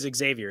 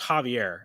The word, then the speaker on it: Javier: So, Javier, by the way, if anybody, we are always Xavier. It's pronounced Javier. I'm not going to forget this anymore. It's Javier.